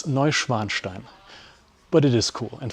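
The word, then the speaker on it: Neuschwanstein: You don't pronounce it ninstein. It's Novanstein.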